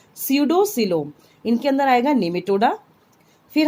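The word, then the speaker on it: pseudocoelom: Okay, P is silent here. स्यूडोसिलोम, इनके अंदर आएगा निमेटोडा.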